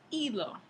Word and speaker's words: hilo: Entonces, ya no es hilo, sino hilo. Esa H no se pronuncia, aunque se sigue escribiendo.